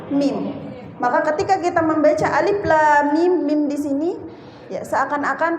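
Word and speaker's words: الم: ada Alif di sini maka bacanya a Alif bukan a la di sini bukan la tapi la lam mim di sini bukan Ma tapi mim Alif Lam Mim bukan a alam ada lagi yang baca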